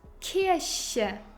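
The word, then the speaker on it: Kirche: of conveying what you mean lies in the pronunciation the first word you read kiershe church and the second word you read kiersha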